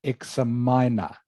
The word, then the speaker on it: examiner: I think you said examiner okay it is actually egg seminar so this x here is pronounced like it is a g egg like eggs egg